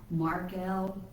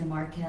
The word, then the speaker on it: Marquiel: my special guest is Marquiel. I always want to say Marquiel, and it's Marquiel. Marquiel, like a bird.